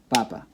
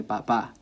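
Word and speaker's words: papá: nine against right now but if I read it like this and my intent is to say Dada then I need to write that accent mark because in real life I would I mean in speech I would say papa papa so that's why I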